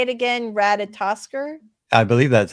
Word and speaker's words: Ratatoskr: Ratatoskr, right? I was like, the beginning of the word reminded me of the word potato. So say it again, Ratatoskr.